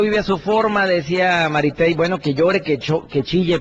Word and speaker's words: Maritey: Maritey, Mari y latina, T-E-Y. Maritey.